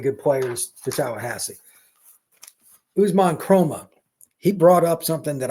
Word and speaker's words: Kromah: Usman Chroma, he brought up something that I'd forgotten.